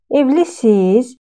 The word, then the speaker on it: evlisiniz: We are writing evlisiniz, but we are pronouncing this expression as evlisiz, evlisiz.